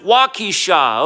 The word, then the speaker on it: Waukesha: in wisconsin somebody out there is like it's pronounced walkie-shaw okay okay walkie-shaw however you want to call it i don't care wakisha waukesha doesn't mean anything to me but um this